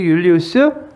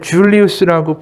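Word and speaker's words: Julius: 제일 먼저 제가 얘기한 가이우스 율리우스 하면 떠오르는 이름이 그 다음에 시저. 시저의 전체 풀네임이 가이우스 율리우스 시저예요. 율리우스라고도 부르고 영어로 하게 되면 이제 줄리우스라고 부르죠. J가 묵음이 되기도 하고 이제 영어에서는 발음이 되니까.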